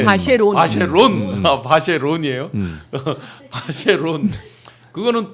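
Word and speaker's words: Vacheron: 그래서 전계환 대표 스픽스의 전계환 대표는 계속 반클라프 하니까 댓글에서 반클리프라고 막 이렇게 영국식 저기도 발음인가요? 해주셨는데 네, 바쉐린, 네, 바쉐론.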